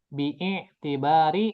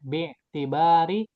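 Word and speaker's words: بِاعْتِبَارِ: Bibbari atau langsung bacanya bittibari ya. Jadi ini ada alif wasal bittibari zamanihi ya.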